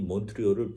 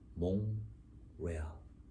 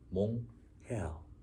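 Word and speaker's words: Montréal: 그래서 정확히 몬트리올을 불어식으로 발음하면 몽레알, 몽헤알 이렇게 됩니다.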